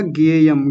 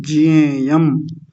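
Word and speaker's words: ज्ञेयम्: बस यहां देख लीजिए आपने बोला गेयम गेयम नहीं जयम क्योंकि इसको ज्ञानी नहीं ज्ञानी ऐसा करके बोलते हैं ज ये थोड़ा सा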